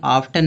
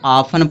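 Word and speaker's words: often: इसको बहुत लोग ऑफ़न पढ़ते हैं। ऑफ़टन पढ़ेंगे। लेकिन ये ऑफटन नहीं है। इसको ऑफ़न पढ़ा जाएगा। क्यों ऑफ़न पढ़ा जा रहा है? क्योंकि टी क्या है? साइलेंट है तो इसको ऑफन पढ़ा जाएगा।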